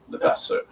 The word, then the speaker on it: Levasseur: And I like how French that sounds, Levasseur. You say it right.